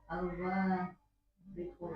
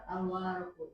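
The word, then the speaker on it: الورق: Al-wariqu. Roknya fathah di sini. Al-waraqu.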